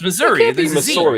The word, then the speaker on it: Missouri: supposed to no it's missouri it's missouri yeah missouri it's missouri there's a it's a yeah it's two s's it's two s's so it's pronounced but it sounds like z's am i supposed to